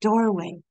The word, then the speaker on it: duirwaigh: During that age, if one was lucky, one might encounter a door in the trunk of a tree, known as a duirwaigh (pronounced Door Way), a portal between magical worlds.